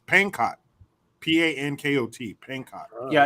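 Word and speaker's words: Pankot: to Bangkok Palace or Peng I think it's pancott p-a-n-k-o-t pancott yeah it's it's it's uh the B is silent as an uh uh as in Fox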